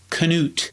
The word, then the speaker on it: Knute: George Gipp, pronounces it as a traditional Norwegian pronunciation of Knut.